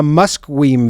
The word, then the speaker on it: Musqueam: It's like Musqueam. It's pronounced a Musqueam View. Is how it's pronounced, but then just call it that.